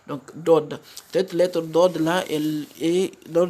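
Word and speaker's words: ض: C'est l'allongement du son lors de la prononciation de la lettre. Donc, Dod.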